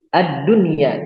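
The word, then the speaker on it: الدنيا: Cara bacanya sesuai dengan namanya, izhar. Ingat, izhar artinya jelas, maka kita membacanya tidak dengan dengung atau jelas. Ad-dunya, tidak kita masukkan ad-dunya atau buyanun atau tiwanun atau siwanun, tapi kita jelaskan dan tidak kita dengungkan.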